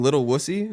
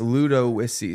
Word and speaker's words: Ludowici: everyone used to cause oh you live in little wussy I'm like no no it's it's Ludo whissy so what l-u-d-i or